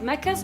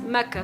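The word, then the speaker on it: Makkah: First fact on this list has to do with Mecca's etymology and usage.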